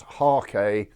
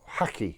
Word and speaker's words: hake: as I was reminded the word is of Japanese origin and in that area of the world it should probably be pronounced harke or haki even however I have always known it as a hake but of course you